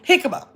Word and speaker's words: jicama: Hikima.